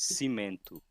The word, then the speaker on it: Cimento: So yeah, and oh, and just saying, like the way that you pronounce my nick in the Discord is Cimento. Cement too. Yes, Cimento.